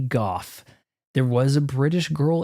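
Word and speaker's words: Gough: him to Michael go I think it's PR pronounced Michael go it could be Goff there was a British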